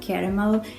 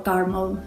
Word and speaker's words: caramel: One is called chocolate, one is called caramel or caramel. I know people have different pronunciations for that word, and the third one is toffee.